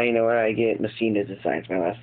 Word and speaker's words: Messina: Messina Designs. My last name is Messina. Make sure you guys pronounce that right.